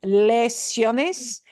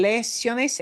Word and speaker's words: lesiones: You would recognize this word as lesions, but they're pronounced lesiones. En español, lesiones, and lesiones is a more general word.